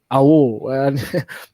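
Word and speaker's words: Aouar: Awar.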